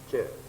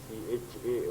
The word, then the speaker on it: ca: this word CA to pronounce a ch, not k. Huh? Sometimes we use CHA also.